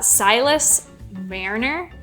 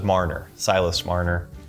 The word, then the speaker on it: Silas Marner: a little disagreement on how you pronounce this so you guys can let us know uh Silas Mariner is that correct I think you're actually right I originally thought it was Marner Silas Marner I think it is tricky